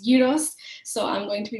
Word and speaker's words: gyros: yos for you um some people may know them as gyos or Gyros but my Greek best friend always tells me they pronounced gyos so I'm going to